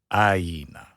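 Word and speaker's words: ʻāina: So make sure you get the okina, not ka'aina, ka'aina, and get the e sound in there, ka'aina, right?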